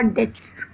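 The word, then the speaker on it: debts: Obligation जैसे you must pay your डेट्स. यहाँ पे बी आपका साइलेंट होता है.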